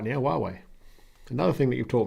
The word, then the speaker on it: Huawei: huawei see greg i'm saying it right now huawei another thing that you've taught me um telephoto